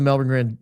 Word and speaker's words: Melbourne: And I like watching the Melbourne Grand Prix every year. That's how I know how it's pronounced Melbourne, not Melbourne, because they say it 100 times.